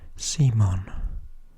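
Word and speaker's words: CMON: Cool Mini or Not, which I call Come On, C-M-O-N. Although I have found out recently that everybody else seems to pronounce it Simon, which I think sounds a little like a rude word, so I think I'll stick with come on.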